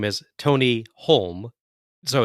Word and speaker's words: Halme: independently, like Holme, or do you pronounce it as more like home, like JR? So JR goes with Holm. The Japanese ring announcer pronounces it Holme or Holme. Yeah. Neither is Finnish to actually know.